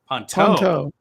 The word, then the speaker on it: Ponteau: We have a guest today, is Carl Ponteu. Is that how you say it? Ponteau. Oh, it's French.